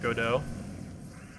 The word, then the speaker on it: Godot: uh program uh of godot like you look at the word and your first expression is that is not good oh because it's go dot it's g-o-d-o-t but the t is silent for whatever reason i